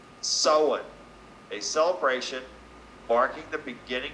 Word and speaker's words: Samhain: for the eve of Samhain pronounced sullen a celebration marking the